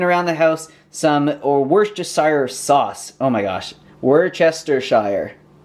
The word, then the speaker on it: Worcestershire: But what I find interesting about the word Worcestershire is that in the UK, they don't even say all the syllables in this. They just say Worcester sauce.